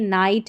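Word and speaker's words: knight: देखिए नाइट है, नकल है। यहां पर नेपसेक है। ठीक है? नेपसेक है और यह नेल्ट है। यहां पर सभी में जो है के साइलेंट है।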